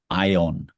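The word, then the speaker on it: αἰών: Yung is the archetypes and the collective unconscious ion to pronounce it in Greek an eternal reality right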